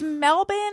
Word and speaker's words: Melbourne: out in the responses g'day it's Dave from Melbourne Australia to stream to say Happy New Year